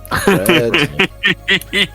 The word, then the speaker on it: Pffred: Fred is spelt PFFRED. PFF. I gotta rewrite it now. Fred. PFF. Fred. Fred. It's like Steven spelt with a PH Yeah. at the start.